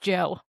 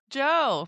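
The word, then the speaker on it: DJO: It's just pronounced Joe. Joe. Just Joe.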